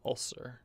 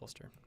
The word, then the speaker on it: Ulster: in charge of ulster i think i'm pronouncing that around ulcer ulster ulster yeah it's ulster this guy's in charge